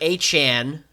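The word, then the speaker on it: Etienne: Saints have Alvin Kamara and Trevor Achan, as he said his name is now pronounced, which is stupid, but it's his name.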